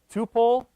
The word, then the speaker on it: tuple: just get a pole you guys pronounced as tuple raise your hand kupil supple okay the verdict is in I'm right I call it too full but this is only